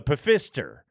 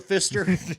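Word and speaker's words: Pfister: yeah it's the the pister is the that that's the it's that just the Fister no it starts with a P you got to pronounce it every time the pister is the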